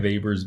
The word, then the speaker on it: Weber: his name is Weber it looks like Weber but we use the German pronunciation just as an FYI vapors view of stratification he's